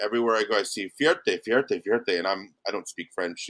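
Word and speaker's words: fierté: And it's called Fierte.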